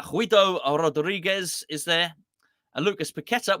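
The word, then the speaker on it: Paquetá: Rodriguez is there Lucas petta we found out it is petta by the way Gio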